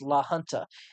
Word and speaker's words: La Junta: says uh by the way the John says pronounced La Junta I had a I had a feeling that